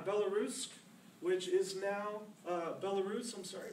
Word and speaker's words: Belarus: was born in belarusque which is now uh Belarus I'm sorry Belarus I pronounce it my Russian's a little off today uh in 1975.